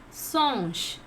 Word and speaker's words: singe: In French it is singe. How to pronounce? Singe. Monkey, singe. In you have to pronounce a. Okay? Singe.